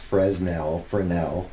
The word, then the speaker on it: Fresnel: Fresnel stage light, which is how that's pronounced, Fresnel, has been a backbone of stage lighting for since the dawn of electricity almost.